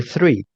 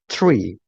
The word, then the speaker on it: three: Yeah, so it's gonna be three, not three.